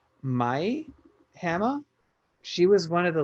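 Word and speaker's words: Mie Hama: What I thought was really cool is that I think you pronounce her name Mai Hama.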